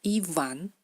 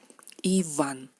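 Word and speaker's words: Иван: Iván, lo que en español es V, en ruso sería V, la letra V, da el sonido V, labio dental, V. Iván.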